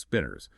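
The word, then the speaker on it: spinor: Remember, pronounced spinners.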